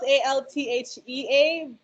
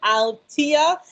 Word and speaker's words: Althea: it's okay it's spelt a-l-t-h-e-a um so i've i pronounced it althea the t-h um but i guess to make it easier el altia i'm jamaican i'm born